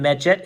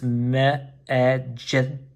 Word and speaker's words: Medjed: So here's his name, Medjed. It's pretty much just phonetically pronounced.